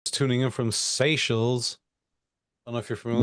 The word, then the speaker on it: Seychelles: that's tuning in from Seychelles.